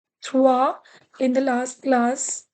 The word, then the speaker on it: trois: 3, trois. In the last class, I told you OI has OA sound.